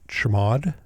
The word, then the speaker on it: chmod: If it doesn't, you can make it executable by typing chmod, or as we pronounce it, chmod 755, which makes it